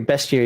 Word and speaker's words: bestiary: Is it pronounced bestiary or bestiary? It doesn't have the A in there.